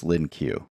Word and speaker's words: LINQ: My understanding is that the proper pronunciation is linq. I'm going to call it linq, however, which a lot of people do. I just can't get myself to actually say linq.